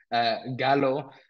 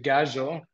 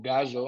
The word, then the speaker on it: Gallo: I think we don't see we've been calling him Gallo, the prop, but it's actually Gajo or Gajo.